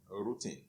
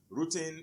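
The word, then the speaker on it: rutin: is a bioflavonoid that is called rooting it is spelled r-u-t-i-n routine routine is a bioflavonoid and it is usually found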